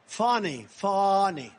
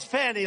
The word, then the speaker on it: Fani: And not only that, all these local cases like Fani. It's spelled Fanny. It's spelled Fanny like your ass, right, Fanny? But when she became DA, she decided to add a little French, a little fancy.